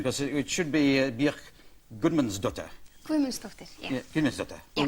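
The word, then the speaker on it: Guðmundsdóttir: But that's only a bit of your name, because it should be Bjork Gudmundsdóttir.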